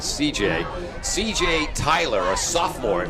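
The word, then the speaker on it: Cijai: It's C-I-J-A-I is the first name. We're pronouncing it C.J.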